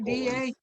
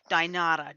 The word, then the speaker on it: Dynata: Is it What kind of scam are they DINADA? No, DYNATA. Dynata.